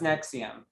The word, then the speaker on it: NXIVM: That's Nexium. Yeah. It's pronounced as a U.